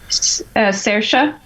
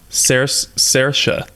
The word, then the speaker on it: Saoirse: Saoirse. Saoirse. Saoirse. I even looked up a video on YouTube how to pronounce her name properly, so I got her to say Saoirse Ronan.